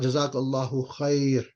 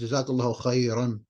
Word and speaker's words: جزاك الله خيرا: It's not جزاك الله خير, it's جزاك الله خيرا.